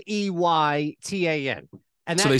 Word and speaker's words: Eytan: So it's Eytan, right? Like it's like saying hey ton, but you don't say the H, and it's Eytan. The problem is that when people see it, it's spelled Eytan, and so they say Eytan, right?